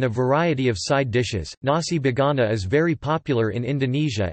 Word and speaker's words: nasi bogana: Nasi bogana or nasi bogana, pronounced as na-si bogana, is an Indonesian-style rice dish, originally from Tegal, Central Java.